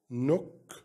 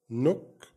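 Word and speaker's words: knock: بيقول ان الكي لما بيجي بعدها الان، الكي هنا سايلنت مش بننطقها، الكي لما يجي بعدها الان يبقى الكي ايه؟ سايلنت. الكلام ده طبعا زي الاكزامبلز اللي قدامنا هننطقها مع بعض.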